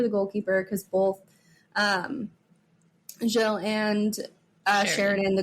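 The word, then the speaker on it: Gilles: we pronounce is it Jill thank Jill okay Jill is how we pronounce um uh Vanessa's last name but I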